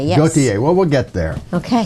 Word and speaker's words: Gautier: I pronounce it Gautier. Yes. Gautier.